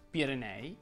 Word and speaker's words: Pirenei: Quando la E tonica è seguita da un'altra vocale richiede di essere pronunciata aperta.